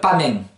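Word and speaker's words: pamens: Exemple, pamen. P-A-M-E-N-S. D'une manière générale, ne prononcez jamais la dernière consonne, la deuxième et dernière consonne.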